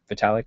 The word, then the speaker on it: Vitalik: Am I pronouncing it right, Vitalik? Vitalik.